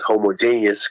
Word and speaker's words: homogeneous: safety of homogeneous or as the correct pronunciation is homogeneous communities so i think